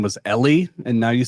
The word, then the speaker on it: Eli: Ellie. It's It's spelled Eli, but it's Ellie.